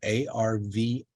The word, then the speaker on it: Arvielo: It's spelled A-R-V-I-E-L-O, Patty Arvielo.